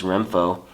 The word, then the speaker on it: Renpho: app that they have it's called renfo and i think i'm pronouncing this right rem and pho so i think it's renfo but anyway you get